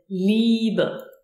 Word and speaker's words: Liebe: The IE is pronounced like a long E, as in Liebe.